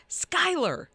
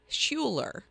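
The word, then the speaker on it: Schuyler: y l e r how is that pronounced I have no I'm not even going to try Skyler okay I I would never I would think Scher yeah I never would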